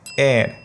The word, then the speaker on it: heir: और lastly HEIR इस शब्द का प्रोनाउंसिएशन है एयर।